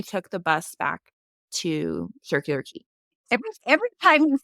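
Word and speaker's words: Circular Quay: said it it said the next stop is circular key and I said oh I would have been saying that wrong the entire time I was here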